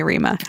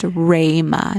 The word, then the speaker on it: Rima: They'd call me Rima. That's so true. Guys, my name is pronounced Rayma, not Rima.